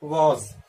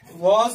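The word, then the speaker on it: was: वॉज को दो तरह से हम प्रोनाउंस करते हैं, एक वॉज और जब हम स्पीड में इंग्लिश बोलते हैं तो कहते हैं वज। उसका प्रोनाउंसिएशन वज, इस तरह भी पढ़ते हैं उसको।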